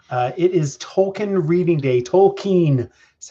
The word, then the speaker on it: Tolkien: Tolkien is how he pronounced it.